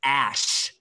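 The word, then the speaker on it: Æ: letter X and then the AE is pronounced ash like ash from a fire so X s exact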